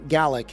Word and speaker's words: Gaelic: So he was a Gaelic is how it's actually pronounced, Gaelic speaking Scottish guy,